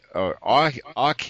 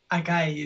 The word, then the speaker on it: Akahi: to their show also on this page AI a AI is that pronounced right aai is my name aai okay Akai and Camila